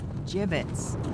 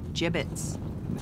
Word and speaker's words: gibbets: out of here hey look favorite had some gibbots left over gibbets what it's pronounced gibbets are you sure yeah well no one likes